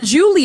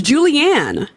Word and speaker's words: Julianne: And it's not Julie, it's Julianne.